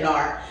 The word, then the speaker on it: NAR: membership with wbr and N AR and I just want to remind everyone that it is pronounced in AR and not Nar anymore that is an old school way of saying and I believe it's